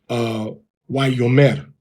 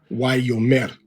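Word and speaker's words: ויאמר: When we go into the actual records and follow the rules of grammar, we see that it was pronounced as Wayomer, Wayomer, Wayomer.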